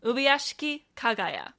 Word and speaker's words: Ubuyashiki Kagaya: There's how you pronounce the master's name. Ubuyashiki Kagaya. It's going to feel a little bit more unnatural to pronounce his given name that way because we aren't going to say it like that, like naturally.